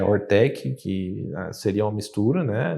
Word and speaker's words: Hoortech: que mudar tudo né então ortec Eh na pronúncia seria horta com tecnologia mas o nome em si é tem H tem duplo o então foi tentando sair